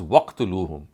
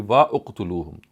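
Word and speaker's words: وَاقْتُلُوهُمْ: So when we read it collectively or jointly, it would be pronounced as waqtuluhum. Otherwise, it would be wa uqtuluhum.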